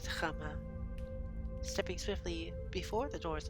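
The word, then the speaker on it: Háma: It's a little accent above the A here. So I just read it as Chama instead of Hama.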